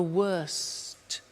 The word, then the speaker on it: worst: Bad, worse, the worst. Don't forget to pronounce the T.